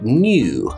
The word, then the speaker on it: new: or new or youtube a british english speaker will keep the yes sound in there saying things like tube and new and youtube so i'm working on a new youtube video a new youtube video